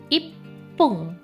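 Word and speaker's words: いっぷん: 1 menit itu ippung. Ya. Pelafalannya didabelkan di p. Jadi ipung bukan ipung kan gitu ya pelafalannya, tapi ipung.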